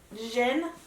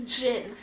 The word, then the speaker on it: djinn: can make a say, isn't it pronounced Jin? You don't Yeah. pronounce the D. Yeah. You don't. That's what I said. You said No. degenerate. You said Djinn. Whatever. You're a degenerate. It's Jin.